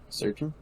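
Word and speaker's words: Srdjan: less valve than I am typically used to pronouncing in that verse name surgeon Maybe um then we have pavela girenic Lazar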